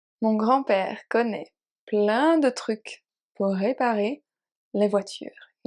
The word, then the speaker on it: truc: It's a little bit tricky to pronounce because of the R, but un truc.